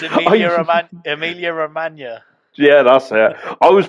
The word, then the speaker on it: Emilia Romagna: Do you mean the Amalia Romero? No, I've been You can't practicing even pronounce it. It's it. Emilia Romagna.